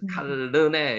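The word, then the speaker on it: כַּלְנֵה: 봅니다 여러분 자 참고로요 라메드가 요거 여기 보이죠 라메드가 문 저 단어의 중간에 들어가면은 앞에도 발음이 되고요 뒤에도 발음이 됩니다. 그래서 칼레라고 발음은 칼런네 양쪽으로 발음이 둘 다 리어를 다 주는게 원 발음을 하는데 제일 정확한 발음입니다. 그래서 칼르네 요렇게 일죠.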